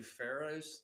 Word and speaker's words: pharaoh: about the English language having silent letters feros does not start with an F so no and actually pharaohs this is if I